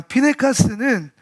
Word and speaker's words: Pinechas: 자, 피네카스는 무슨 말이냐면 비느하스의 히브리 발음이에요.